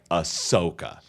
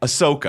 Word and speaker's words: Ahsoka: And my brain just kind of added an extra syllable, and I've never been able to course correct.